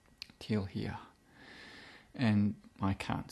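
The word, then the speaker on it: Teal'hia: I say telia, but it's spelt T-E-A-L apostrophe H-I-A. Till here.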